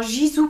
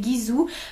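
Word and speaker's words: Gisou: été influencée à l'acheter il y a beaucoup de gens qui prononcent très mal la marque c'est Gizou j'entends Gizou partout mais non c'est Gizou en fait la marque a été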